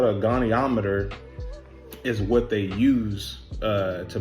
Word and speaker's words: goniometer: It's a gonometer. Jesus. Pronunciation. Goniometer.